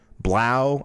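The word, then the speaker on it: 3LAU: On Tuesday, Threelau pronounced Blau. There we go. I thought it was Blau.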